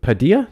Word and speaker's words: Padilla: It's a soft D.